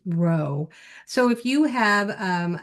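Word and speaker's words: rho: uh as represented by the Greek letter row and it looks like this little lowercase uh P right here. All right. So that's actually uh pronounced row.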